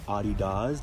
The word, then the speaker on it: adidas: pairs of runners to adidas one Nikes or Adi does depending on how you like to pronounce it and yeah they're super